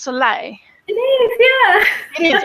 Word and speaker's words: Soleil: And it's really interesting because we were just talking about before of Ali, now I'm going to make sure, is it pronounced Soleil?